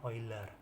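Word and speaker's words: Euler: enggak pernah denger ya barisan coiler bacanya oil ya nulisnya UN = satu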